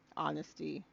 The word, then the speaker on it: honesty: with humble I humble honesty wait honest h huh honesty is another word you don't really pronounce the h dang it he got